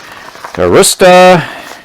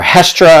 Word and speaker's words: Hestra: say ski tours and i apologize for my german pronunciation arista or hestra i should say you get what you